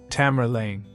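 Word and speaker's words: Tamerlane: In the Western world, this nickname would eventually be pronounced as Tamar Lane.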